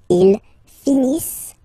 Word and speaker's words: finissent: So remember, as usual, when we get the verbs, E, N, T, not pronounced. Ils finissent.